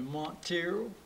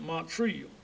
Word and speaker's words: Montreal: relatives and everybody had a problem of pronouncing the name montreal they called me montero they call me monk treat and some people call me money and call everything so went on and i got to going out then and when i got started school then people would ask me when i got to school my teachers were to pronounce it montreal well i go out